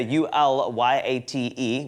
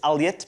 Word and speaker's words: Ulyate: It's spelled U-L-Y-A-T-E, which is Alyat, but some people say Ulyate, Alyate, all sorts of things.